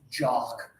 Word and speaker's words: jock: Again, everybody put up the one finger. It's like Poppy and Rob and bot. This is jock.